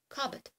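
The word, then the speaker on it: cupboard: вони так злилися із замість Cup Board у нас вийшло cet каet і ми будемо говорити каet але насправді ми будемо писати Cup Board ті два слова які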